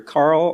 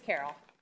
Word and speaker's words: Carol: Next public comment comes from Miss, I'm going to say it's either Carl or Carol. What? I apologize. What's the first name? That's okay. It's Carol.